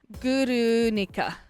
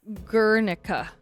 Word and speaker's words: Guernica: So once again, thank you Cannis for suggesting Clan Queen and specifically this song Guernica or Gernika. I think that's how you pronounce it in English.